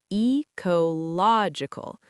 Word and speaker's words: ecological: Pronunciation tip: ecological stress falls on the third syllable. Eological. Practice it slowly first, then bring it up to natural speed. It's a word many students mispronounce under pressure.